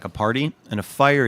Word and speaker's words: Feier: 1, I want to talk about Riesling Fire.